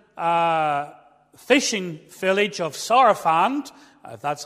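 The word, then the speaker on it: Sarafand: beneath the modern uh uh fishing Village of sarafant that's how you say it in in Lebanon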